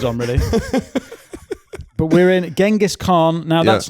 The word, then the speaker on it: Genghis Khan: So I think the top level autistic pronunciation is Genghis Khan. So we're going to Genghis Khan. Isn't it? I thought it was Chinggis.